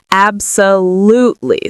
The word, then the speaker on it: absolutely: So the stress is on the third syllable. We would say absolutely. So there's 4 syllables in total.